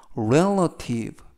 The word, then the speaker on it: relative: 이때 강세는 알파벳 E, 첫 부분에 있는 알파벳 E의 강세가 있어서 relative 라고 발음하시면 되겠습니다.